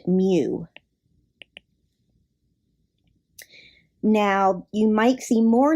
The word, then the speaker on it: mu: M I'll put it in quotations here it's pronounced mu now you might see more notation on how